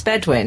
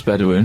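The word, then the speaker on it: Bedouin: I tell you why I do that it's bedwin isn't it I thought it was bedwin yes it is but the reason I said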